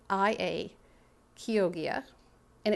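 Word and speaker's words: Chioggia: um the next one is the kogia beat it's spelled c h i o g g i a kogia and it's from kogia Italy it's also called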